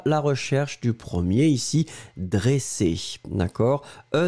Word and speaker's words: dressé: Nous étions à la recherche du premier ici, dressé, d'accord ?